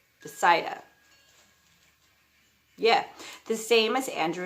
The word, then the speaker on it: Bethsaida: Philip's hometown was Bethsaida. Okay, that's not how it's said, but it's spelled B-E-T-H, like Beth, and then S-A-I-D-A, Bethsaida.